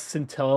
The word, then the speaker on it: scintilla: Well, now I know to pronounce scintilla like tortilla.